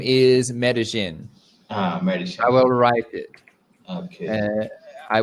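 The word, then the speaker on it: Medellín: the city's name is medellin i will write it i will write it for you so it's pronounced medellin in spanish in spanish in spanish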